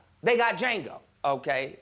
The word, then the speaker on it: Django: They got Django. Okay. The D is silent.